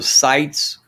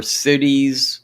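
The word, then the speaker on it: CITES: asian arowana is illegal it goes to the sites or cities however you want to pronounce it it's c-i-t-e-s once that law became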